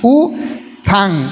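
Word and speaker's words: U Thant: U-Thant, creo que en inglés se pronuncia como Thant, como no sé, como que va a decir thank you.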